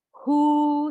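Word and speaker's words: who: salah double you itu ada kata tanya yang W nya justru nggak bunyi contohnya dikata tanya hu siapa home siapa juga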